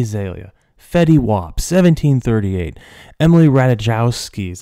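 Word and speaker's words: Ratajkowski: Michael Sarah Iggy Azalea fetty WAP 1738 Emily ratajowski is how you say it and then Christian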